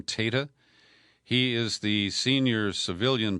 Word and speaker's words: Tata: I now believe he pronounces his name Tata.